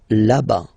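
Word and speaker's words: là-bas: it's la La whoops laba remember final s not pronounced laba so remember when you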